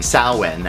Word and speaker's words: Samhain: Samhain, as it's actually pronounced, but Samhain, the Celtic festival, the Day of the Dead, the ending of the harvest.